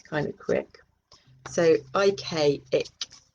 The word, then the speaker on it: Ik: So, IK, ik. Pronunciation, ik, ik, ik.